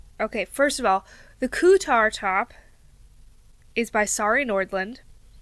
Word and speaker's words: Kuutar: There's no N. It's Kuutar. Now, if I'm pronouncing that wrong as Kuutar, I don't know what to do about that.